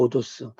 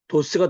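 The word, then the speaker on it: ὁδός: 여기에 감기식이 붙은 거예요 감기시기 붙으면 여기를 h ㅎ발음을 넣어서 발음하라이 말이에요 그래서 여기가 호도스가 되는 거예요 여기 뭐냐 길이에요 그래서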